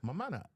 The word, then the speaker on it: Mammana: This is Mamana. Okay, from Brooklyn. Mm-hmm. what? Mamana. Spell it. Mammana. Mamana. Isn't it Mamana? Mamana.